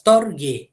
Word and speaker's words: storge: And then we have Torge, all right, pronounced as Storge, okay, not that gay, Storge, all right, whereby love grows out of friendship and is usually characterized by stability.